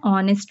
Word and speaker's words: honest: An honest man. Honest here H is silent, so we use an as an article.